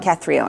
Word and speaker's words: Cathronia: Her name is Catrona. Is that right? How do you say her name? I think her family in Ireland says Cathronia. Cathronia. But her friends in California generally call her Cat.